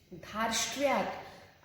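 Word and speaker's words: धार्ष्ट्यात्: अब यहाँ पे ध्यान देंगे जो रेफ है ये य के ऊपर है, बट जो इसका उच्चारण है जो वो धा के बाद होगा। रीजन क्या है? रेफ का उच्चारण हमेशा हलंत शब्दों से पहले होता है, तो ट भी हलंत है, श भी हलंत है।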